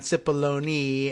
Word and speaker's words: Cipollone: know that they I think we're settling on SIPP baloney as the proper pronunciation see Robert should have sent Alito he